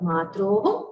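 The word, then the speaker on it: मात्रोः: The hakara should be heard. The visarga at the end should be heard. Matroho.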